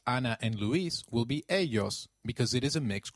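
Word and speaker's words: ellos: of area in Spanish Double L takes up the sound of Y in some areas and a soft J in others so you'll hear both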